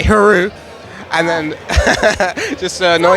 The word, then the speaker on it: Hru: was going to say Hru, and then just to annoy you a bit. Added syllable. It's 3 letters, 1 syllable. H is silent. Yeah, it's very easy. like kangaroo.